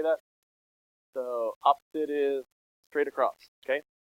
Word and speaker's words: SOH: It's so, S-O-H is so, C-A-H is ka, and then toa is T-O-A.